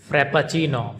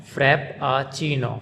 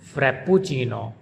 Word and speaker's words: Frappuccino: it's pronounced by Americans Frappuccino, frap-puh-CHEE-noh, Frappuccino. And the Italians, they pronounce it Frappuccino, frap-puh-CHEE-noh. So the Italians, they pronounce double P, frap-puh-CHEE-noh, frappuccino. And the Americans, they pronounce it like single P, frappuccino.